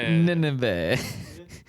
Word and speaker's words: Nineveh: Nineveh. It's Nineveh. uh, Nineveh? Nineveh. See, Yeah, I know. Usually I'm bad at pronouncing things, but I think it's Nineveh.